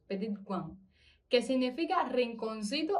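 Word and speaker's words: petit coin: así dice, significa e la forma, así se pronuncia, peti cuan, que significa rinconcito o lugar pequeño.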